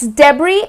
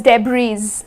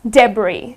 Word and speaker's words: debris: So it's debris. I mean, though it is spelled with an S, but it's not pronounced as debris. It is debris. Okay, so it's That's how it would be pronounced, debris.